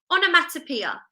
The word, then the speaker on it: onomatopoeia: So it's onomatopoeia. Can you remember how many syllables there are in onomatopoeia? So let's say the word and count the syllables. Onomatopoeia. 6 syllables, okay?